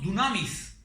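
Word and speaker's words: δύναμις: une parole qui elle elle se prononce Dunamis et certainement cette parole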